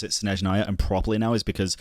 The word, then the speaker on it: Snezhnaya: I have to do this every time I hear it pronounced, because the only reason I pronounce it Snezhnaya and properly now is because I've seen that